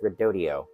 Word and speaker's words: Redodo: phosphate battery sold by redodo or they say it's pronounced redodio not sure how they